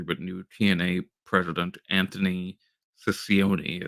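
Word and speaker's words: Cicione: new TNA president Anthony Ciccione, is how I'm deciding to That pronounce it. that's actually how you pronounce it.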